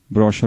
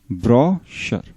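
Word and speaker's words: brochure: ब्रोशर बोलते हैं इसको ना, क्या बोलते हैं? BRO, ब्रो, ब्रोशर, ब्रोशर।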